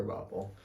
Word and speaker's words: Krabappel: i forgot about it krabappel is just crab apple yeah just set a different way it's pronounced differently yeah yeah yeah yeah it sounds like a kerbapple so yeah garoppolo going